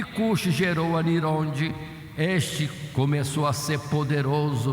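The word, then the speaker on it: Ninrode: caçador diante do Senhor, ou pronunciando melhor, como Nirode, poderoso caçador diante do Senhor.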